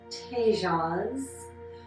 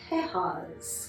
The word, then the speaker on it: Tejas: It could either be Tejas or Tejas with an H sound.